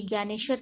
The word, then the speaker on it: ज्ञानेश्वर: इन सभी संतों में अभी देखिए संत ज्ञानेश्वर, ये जे साइलेंट होगा तो ये ज्ञानेश्वर पढ़ेंगे हम इसको।